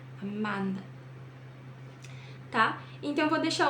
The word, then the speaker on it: Amanda: Então, eles pronunciam Amanda, amá, não amã, amá, Amanda.